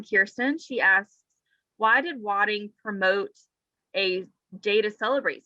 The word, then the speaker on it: Wadding: She asks, "Why did Wadding promote a day to celebrate St.